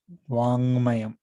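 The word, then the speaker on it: वाङ्मयम्: mayam okay this is wang mayam okay ng is pronounced together and uh it is not stressed okay so wang mayam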